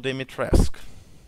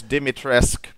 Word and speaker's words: Dimitrescu: Castle Dimitrescu. Yeah, that's how you pronounce her name, by the way. It's Dimitrescu. Or Dimitrescu. You know, something like that. I'm pretty close, though.